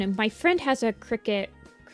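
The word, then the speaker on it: Cricut: I don't think it'll be too much, but I've heard that the crickets, creek cuts, I call them crickets, but I'm pretty sure it's like a creek cut um or a cirut or something like that.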